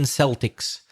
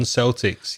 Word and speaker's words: Celtic: Celtics in America so when it's for sport we pronounce it Celtic usually but the normal pronunciation that word is with a cup Celtic and when we talked